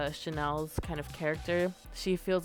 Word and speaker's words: Chanel: All right, next I am going to do Chantel. No, I said it right the first time. Chanel Onyx.